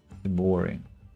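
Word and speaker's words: de Bari: The A is softer, like in the words ball, call, etc. De Bori. Like De Bori. Nicholas De Bori. I really am sorry if I butcher that pronunciation. Of course, it's hard to. If I heard it, I think I would be able to reproduce it. But yeah, The accent is on the first syllable.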